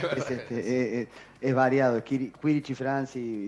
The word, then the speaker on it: Quirici: Se pronuncia Quirichi, pero Quirichi. puede decirse Kirichi también.